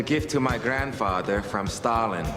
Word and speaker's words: Stalin: to my grandfather from Stalin in my country it's pronounced Stallone you have a sound